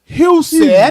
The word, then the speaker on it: Jesse Husett: So give it up for Jesse Husett. Husett. Let me tell you how to Husett. pronounce it.